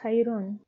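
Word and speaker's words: خيرٌ: The next word is khayrun. Now the same word, which is khayr, but it is ended now by tanween al-dam.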